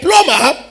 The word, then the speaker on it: plumber: Is it plumber? I think they said the B is silent. Okay, you are a plumber, and you are not just a plumber, you are an excellent plumber.